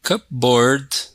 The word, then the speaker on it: cupboard: Example, in cupboard, we don't pronounce the P.